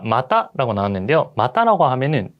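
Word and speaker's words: また: 자, 마타라고 나왔는데요. 마타라고 하면은 또 혹은 또한이라는 뜻이에요. 여러분들 여기서도 발음 주의해 주세요. 자, 마다라고 하는 거랑 마타라고 하는 거.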